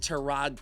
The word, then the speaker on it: Tyrod: How was the ancient Tyrod Taylor, correct pronunciation by the way, the best quarterback this team had?